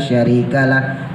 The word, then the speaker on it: syarikalah: benar Lailahaillallah wahdahu la syarikalah pakai syin syarikalah sy'ban s'ban itu pakai syin bukan bukan Sban ya bedain antara Shin